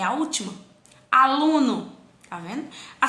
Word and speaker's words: aluno: Aluno, tá vendo? A sílaba tônica de aluno é o lu. Após a sílaba tônica eu tenho mais uma sílaba. Então, aluno, a sílaba tônica dela é a penúltima.